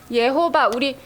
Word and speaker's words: 예호바: 예호바, 이게 여호와 하나님인데 이게 히브리어 정확한 발음으로 읽으면 예호바라고 읽어요.